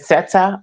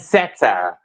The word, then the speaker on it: Sette: And it's pronounced set, by the way. Just set. Set. Okay. You know what? I've been saying Mm-hmm. Seta. A lot of people say that, but it's just basically short for Chrisette.